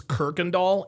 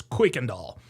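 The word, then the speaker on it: Kuykendall: And by the way, a lot of people pronounce this Kirkandall. It's not pronounced Kirkandall, it's Quickandall.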